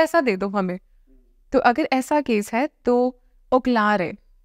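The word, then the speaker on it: Ocllare: So if this is the case, then Oklare. O-C-L-L-A-R-E. And C is pronounced like K.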